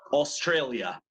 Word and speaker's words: Australia: no house see no oz oz no more Australia Australia very good very good how do you